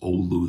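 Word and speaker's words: Oulu: a Finnish American band from northern Wisconsin, the Ulu Hot Shots. If you're from Finland, I know it's pronounced olu there, but in in Finland or in Wisconsin, we mispronounce it ulu.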